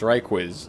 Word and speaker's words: Ryquiz: Yes, Ryquiz is in the chat saying that, yes, indeed, his name is pronounced Ryquiz. So we've been doing it right.